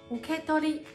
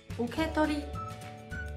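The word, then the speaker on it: 受け取り: 受け取り就是领取的意思，日语里呢写作汉字受取，读作受け取り。受け取り。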